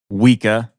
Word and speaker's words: Woika: Last name is pronounced Woika, or however you want to say it, really.